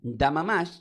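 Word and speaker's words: דְּמָמָה: Ahora, número dos, como es silvo apacible, diga damamash.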